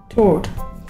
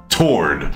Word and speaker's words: Tord: Is it like turd, but with an O? Kind of. Oh, Lord. Tord.